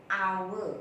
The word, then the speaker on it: hour: a Howard is our H has no sound with a final pitch